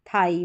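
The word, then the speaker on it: thigh: टी एच को थ पढ़ेंगे और आई जी एच को आई तो ये बन गया थाई। क्या बना? थाई।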